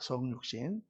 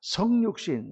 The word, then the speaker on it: 성육신: 성육신 그러면 안 되고 성육신 이렇게 짧게 발음해야 돼요 왜냐하면 성공할 때 성자니까